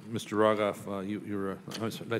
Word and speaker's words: Rogoff: Rogoff, you were, did I say it correctly?